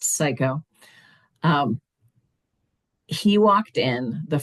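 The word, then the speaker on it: Siko: and that that was his name, but it was spelled s I ko, pronounced psycho.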